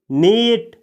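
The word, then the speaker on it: knit: अगला वर्ब है दोस्तों नीट इसमें भी के का उच्चारण नहीं किया जाता है इसको पढ़ा जाता है नीट नीट का हिंदी मीनिंग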